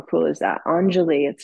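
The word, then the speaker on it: Anjali: means to offer okay how cool is that angel it's spelled a an j a l i Angeli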